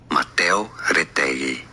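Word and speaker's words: Mateo Retegui: Matteo Retegui is how it's said in Spanish.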